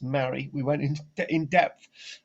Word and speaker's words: Mari: and yes we've worked out there is actually pronounced mary we went in in depth and this is